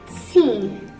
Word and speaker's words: scene: And if S is followed by C, C will be a silent letter. Examples are signs and scene.